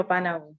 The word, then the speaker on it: Obanawu: Yes, you're very close. It's Obanawu.